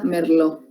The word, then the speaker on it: Merlot: Entonces, hay más o menos, o por ejemplo, la uva Merlot, o sea, se escribe Merlot, pero se pronuncia Merlot.